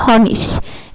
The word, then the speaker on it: Honig: যেমন HONIG, এই যে শেষে IG আছে তাই এটা কি হয়েছে হনিশ, এই যে হনিশ, ইশ।